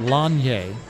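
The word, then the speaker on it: Lasnier: conditioning coach David longier his last name is spelled l-a-s-n-i-e-r and everybody calls him laser pronounced longier and this may be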